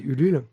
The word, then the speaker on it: Ulule: vérifié, ça se dit vraiment Ulule. Ouh, loulé. C'est français, monsieur. on C'est dit français, Ulule. monsieur. Donc le U, ça se prononce U, quoi.